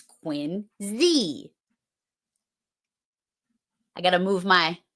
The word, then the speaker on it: Quincy: Quincy is not Quincy. It's Quincy.